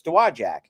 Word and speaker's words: Dowagiac: or in this area, they know it's Dowagiac. And you can, I was making fun of Joel. He might still be watching, but what did he call it one day? He mispronounced, and I went, that's not how you say it.